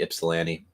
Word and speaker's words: Ypsilanti: You have a city that starts with a Y in Michigan and it doesn't even have a Y pronunciation in its name. For those who know, it'd be Ypsilanti.